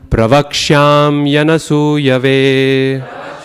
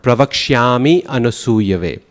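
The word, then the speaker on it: प्रवक्ष्याम्यनसूयवे: Too often we succumb to the tendency of pronouncing that Y at the end of pravaksham as an E sound. Pravakshami anasuyave.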